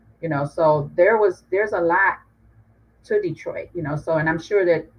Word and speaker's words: Detroit: be, because like Detroit, Detroit is actually French, it is pronounced Detroit, and it was founded